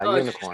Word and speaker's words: Unikorn: It looks like Unicorn or Unicorn. Yeah, Unicorn with the K instead.